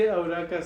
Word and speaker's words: Eureka: this one so um it's actually auraka seven so Eureka pretty much but it's pronounced and seven so pretty much